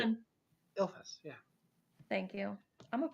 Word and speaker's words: Ilphus: I wrote it down so you guys could spell it somewhere. Ilphus. ILPHUS. Yeah, I was like, it's ill Oh, right. something. Ilphus, yeah.